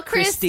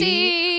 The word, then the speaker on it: Christie: Kyle Christine? Christie. I was gonna say Christine, and then I caught myself because I was like, "There's no N there."